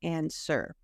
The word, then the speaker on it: answer: see people still or I hear people still pronounce the W so it's not ANW but answer so you want to